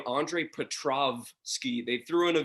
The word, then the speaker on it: Petroski: see uh i mean everyone butchers my last name it's petrovsky but they'll add in like a w petrowski or petrovsky or however they want to pronounce it yeah and that that